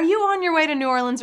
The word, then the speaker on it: New Orleans: I gotta ask the chat right now because so many people pronounce New Orleans differently, right? Some people say New Orleans, like I do. Some people say Nawlins, right? That's the right way to say it. And then some people say New Orleans, which I think is how you pronounce it when you're very far away or never heard of it.